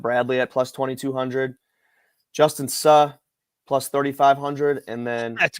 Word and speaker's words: Suh: I fully expected you to say Sue was 2,200 like the others, because it's Suh, baby. That's how you say it.